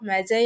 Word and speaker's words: Magi: அப்படின்னா, த gift of மேகி அப்படின்னு pronounce பண்ணியிருப்போம். காலேஜ் வந்ததுக்கு அப்புறம் தான் மேம்லாம் சொன்னாங்க, அது கிஃப்ட் ஆஃப் மேகி தான் நீங்கள் படிச்சிருப்பீங்க, அது கிஃப்ட் ஆஃப் மேகி இல்லை, கிஃப்ட் ஆஃப் மெஜை அப்படின்னு சொல்லணும் அப்படின்ட்டு. இந்த ஸ்டோரி யார் யாரெல்லாம் படிக்கிறாங்களோ